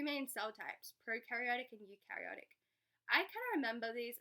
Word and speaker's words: eukaryotic: So we've got 2 main cell types, prokaryotic and eukaryotic. I kind of remember these as like pro, meaning like old, and eu, meaning like new, because it rhymes with new.